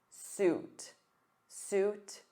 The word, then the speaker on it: suit: So repeat after me. Oot, oo, oot. Suit, suit.